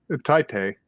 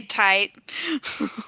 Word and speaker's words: Tite: Is it tight or Tite? Tite. Oh, Tite Kubo I always say tight.